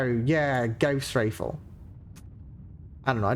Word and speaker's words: Gauss: I believe the Gauss rifle is pronounced as in rhyme with cow. Yeah, Gauss rifle.